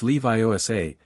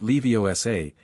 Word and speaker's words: Leviosa: It's Leviiosa, not Leiosa.